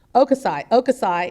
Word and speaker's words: Hokusai: of the, I didn't ask you this, Bradley, Hokusai? How do you say that? Oh, H-O-K? Okusai, and on the prints from the Sino-Japanese War, Sino-Japanese War of 1898.